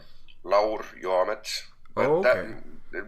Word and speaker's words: Laur Joamets: It's Laur Joamets, Oh, but that okay. it works the way you said it as well. So the J is actually pronounced like a Y.